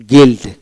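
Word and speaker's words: guild: এ উচ্চারিত হবে রাস্ট তারপর বেলডিং বেলডিং তারপরে গিলড গিলড জি ইউ আই এলডি গিলড তার মানে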